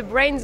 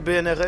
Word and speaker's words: BRNS: le dira pas pourquoi est-ce que vous vous appelez brains on ne dit pas par contre on peut demander pourquoi est-ce que ça s'écrit BRN S et ça nous fait passer pour des pour des con en règle générale puisquon narrive pas à le dire pourquoi ouais et parfois on nous appelle bnrs aussi voilà c'est ça